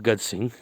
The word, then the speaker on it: Gaj Singh: गज सिंह मतलब he writes his name Gaje, Gaje Singh, but I pronounce it Gaj Singh.